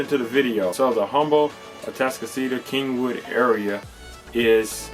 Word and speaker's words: Humble: on the same page it's pronounced humble with a silent h so what's the cost